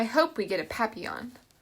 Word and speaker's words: papillon: hope we get a papillon like our neighbor's dog you say it like this papi young in french it means butterfly i help mrs devine